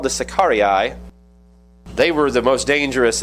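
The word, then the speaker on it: Sicarii: Sakari is how you pronounce it in Latin.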